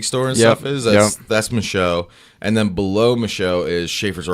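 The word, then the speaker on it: Michaux: It's like I forget how you pronounce it. It's like the Mikau Forest or something like that. Oh, Michaud.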